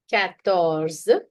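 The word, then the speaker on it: quatorze: Ctors cattors.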